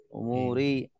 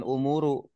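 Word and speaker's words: أُمُورِ: Makanya di sini bacanya ri ya. Umuri karena ada ala, bukan umuru atau umuro.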